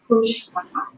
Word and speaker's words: Kushwah: For records, my last name is pronounced as Kushwah, Kush, Kush, and Wah.